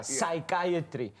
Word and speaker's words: psychiatry: yeah like for example words that starts with the P and the second letter in the word is an S and then you can't pronounce the pecos a P is now silent yeah yeah psychology yes